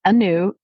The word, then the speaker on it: Agnew: So it's Anew, and so it's Anew, Anew, which is 1 word. Just a little reminder. It just means to celebrate something new in a positive way. So it's Anew.